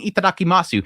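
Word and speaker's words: いただきます: Maybe it's me being a snob, but it's itadakimasu, not itadakimasu. The su is silent. You just say itadakimasu. A lot of the times the U is silent, especially if it's paired with an S.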